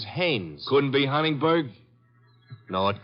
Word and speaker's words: Haynes: war fishing so I what did you say his name is Haynes h-a-i-n-e-s ah oh hey yeah you know him well he's your fellow named Heinz used to fish no no not Heinz Haynes couldn't be Huntingburg now